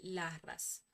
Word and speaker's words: Larras: Vamos a pasar al segundo mantra, que es el mantra Larras. Mientras nosotros pronunciamos este mantra, vamos a imaginar una luz de color morado, color pues violeta en nuestro entrecejo, ¿sí?